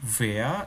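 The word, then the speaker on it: Wer: artinya siapa Oh ya Wei dalam bahasa Jerman tuh bacanya bukan tkwe bahasa Indonesia tapi Wah gitu ya jadi kaya ada feenya gitu ya antara v&w jadi 1w seperti itu free abis2 Ich Bin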